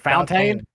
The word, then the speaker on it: Fontaine: pronounce your last name for me. Was it Fountain? Yes, sir. That is it.